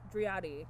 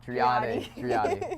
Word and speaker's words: Driade: Am I pronouncing? dri-AH-di. Driade. I apologize. I'm not great at pronunciation. No worries. So dri-AH-di, oddly enough, has a very interesting history.